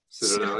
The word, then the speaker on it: Citadel: Of course, Citadel, is that how you pronounce the band name? Sure is. Citadel, yeah.